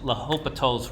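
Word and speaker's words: L'Hôpital: this uh but it's La hopatol's rule it's a French name that's why this the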